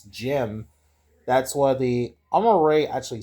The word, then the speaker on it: GM: Now Jim or from Mobile Gun the original Sears now Jim or GM I think it's pronounced right. It's Jim.